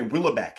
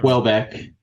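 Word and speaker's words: Houellebecq: Willbeck as an example where there is this autofictional element to Willbec. Wellbeck.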